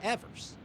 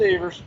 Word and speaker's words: Evers: All these years I've always thought it was Evers. It's because of Nope. that song. It's pronounced Evers.